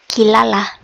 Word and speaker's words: Kirara: by the name of Kirara or how I prefer to pronounce that because L's and R's are the exact same in Japanese is kilala uh and she makes